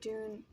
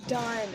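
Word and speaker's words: Dunne: So Billy Dune, I don't know if I'm pronouncing that right. I think it's Dunn. Dunn. Okay, that makes more sense.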